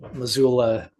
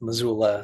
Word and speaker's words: Missoula: So there's that story and then Death Doula rhymes with Missoula.